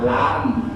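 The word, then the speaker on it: لام: Kemudian lam dibaca lam, ada mimnya, gitu ya. Ujungnya kan lam tuh mim.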